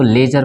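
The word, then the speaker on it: ledger: पहले दी आया है तो यहां भी दी साइलेंट होगा उसी तरह इसको लेजर पढ़ेंगे डी जो है वो साइलेंट हो जाएगा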